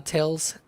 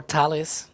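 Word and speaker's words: Thales: that's that's from uh Tails Alenia um or Talis as the it's the actual pronunciation you can see there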